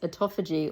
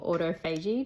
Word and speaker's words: autophagy: Community a lot and that is autophagy or autophagy depending on how you say it and people will